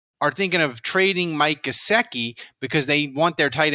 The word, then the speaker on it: Gesicki: apparently the dolphins are thinking of trading mike gaseki because they want their tight end to block uh in the new offense and somehow managed to mispronounce gesicki that that gosiki's like jimmy graham he doesn't